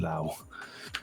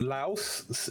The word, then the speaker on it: Laos: Oh no, the correct pronunciation is the S.